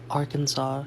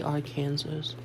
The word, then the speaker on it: Arkansas: Why is my name pronounced Arkansas? Shouldn't it be our Kansas?